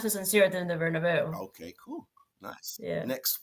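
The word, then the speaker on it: Bernabéu: Real Madrid's home ground, was it but how do you pronounce it? Bernabeu. Yeah, Bernabeu.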